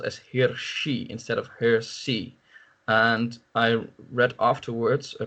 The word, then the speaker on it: Hirsi: lots of people in the netherlands also still mispronounce her name as ayaan Hirsi Ali instead of her see so I don't know how much influence that